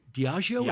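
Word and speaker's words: Diageo: Diagio. Is that how you pronounce it?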